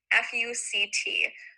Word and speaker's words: FUCT: Brunetti wanted to trademark the mark FUCT, which sounds a little bit like FUCK when you actually say it out loud.